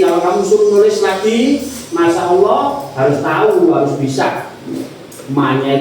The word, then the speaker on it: Masya Allah: Kamu lihat ini kalau kamu suruh nulis lagi masyaallah harus tahu, harus bisa manya itu ada apa? Apa lafal panjang alifnya ya. Masyaallah ya. Bacanya agak panjang ya. Ada panjangnya ya kan.